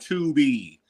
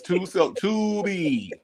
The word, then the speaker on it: Tubi: You know damn well you saying it wrong. It is not. It's called Tubi. Tubi. Say it with me. It's Tubi.